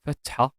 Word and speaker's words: fatha: They are called fatha, damma, and kasra. They are written above or below the consonants they follow. Fatha is a short vowel pronounced like a in bag.